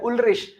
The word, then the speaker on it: Ulrich: Ulrich, ch, before ch a o u is not there, that's why sh, Ulrich. Vater, v is fa.